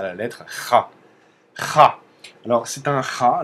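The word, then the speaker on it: х: Kha, ça fait pas vraiment un Kha. Mais voilà, en russe, quand vous voyez ça, vous savez que ça se prononce Kha.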